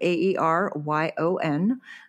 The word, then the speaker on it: Aeryon: So it's spelled a little different, AeryoN. So it is pronounced Aeryon.